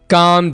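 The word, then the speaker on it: calm: short सा sentence है काम down यहां पर एल साइलेंट होगा काम डाउन कम डाउन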